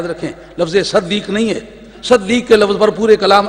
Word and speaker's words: صدیق: ہو تلفظ کیا ہے۔ صدیق فعیل کے وزن پر یہ صیغہ ہے مبالغے کا، سواد کے نیچے کسرہ ہے، اس کے اوپر فتح